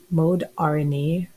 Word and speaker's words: Moderna: system right moderna inc formerly known as mode rna therapeutics or pronounced moderna therapeutics really focuses on the